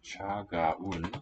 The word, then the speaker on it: 차가운: 차가운. So let's show syllable boundaries. Not gaun.